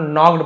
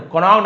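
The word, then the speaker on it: knocked: तो क्लियर है, के एन एक साथ मिले तो ज्यादातर आप देखेंगे के साइलेंट, केवल नॉक्ड पड़े, कॉनॉक्ड नहीं पड़ेंगे, नॉक्ड, नॉक्ड यानी खटखटाया, एट अब्राहम्स डोर, अब्राहम के दरवाजे को।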